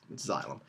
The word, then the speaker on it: xylem: And again, this is pronounced xylem. Sometimes people have a hard time figuring out that X, but it sounds like a Z. It's xylem.